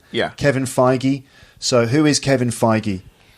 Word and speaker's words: Feige: okay let's talk about Kevin Feige is that Feige is that how you say his name yeah Kevin Feige so who is Kevin Feige so Kevin Feige